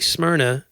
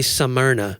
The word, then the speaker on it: Smyrna: We have people in the South that they make Smyrna. Yeah. Like a 3-syllable word. Well, they say Smyrna.